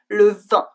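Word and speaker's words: vingt: It's a very strange looking word, but don't worry, as we can hear it's pronounced the same way as the wine, le vin.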